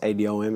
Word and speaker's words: Adom: It's pronounced Adom. It is a West African name, coming from the West African language of tree. The second letter in the word is like a R and a W mixed together, so tree.